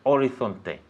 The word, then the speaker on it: horizon: Hay oro más allá del horizonte. There is gold beyond Very good, very good. the horizon. Horizon, okay? Horizon, horizonte. Her eyes on, okay?